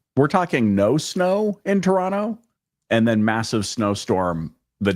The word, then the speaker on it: Toronto: So many people say Toronto and with the hard T. Oh, Toronto. It's Toronto.